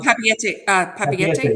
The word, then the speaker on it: Papeete: Well, like I said, they go into how do we pronounce that? Papeete, Tahiti, Bora Bora. Oh, Papeete.